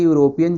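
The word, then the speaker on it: European: देखिए जो ये यूरोपियन जो वर्ड है, जब स्टार्ट करते हैं ना प्रोनाउंसिएशन, देखिए ये से स्टार्ट होता है, तो गई ये क्या है? ये ये आपका व्यंजन साउंड है ना, कॉन्सोनेंट साउंड है।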